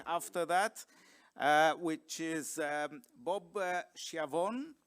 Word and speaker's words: Schiavone: that, which is Bob Schiavone. I think he pronounces his name Schiavone currently. I think it was Schiavone in the past.